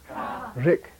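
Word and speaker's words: རིགས: For example, Jorlok, ra, ra, giku, ri, ka, rik. Okay. Now, secondary suffix letter. Ra, giku, ri, ka, sa, rik. Same sound. The sa is silent.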